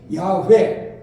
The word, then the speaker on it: 야훼: 어떤 면에서 바른대로 하자면이 히브리어 원로대로 발음하려면 야훼 야훼라고 하는 그런 그 이름입니다 그러니까 여호와라고